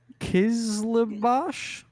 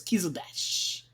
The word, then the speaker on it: Kizilbash: Kizlabash? Kizbash. No, the I is before the L, so it's Kizilbash.